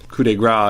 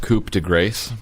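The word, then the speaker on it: coup de grâce: like you'd kind of assumed that the final coup de Gras is gonna happen - Millicent but it doesn't she gets taken off stage it's pronounced coupe - grace but oh right sorry coupe degrade I was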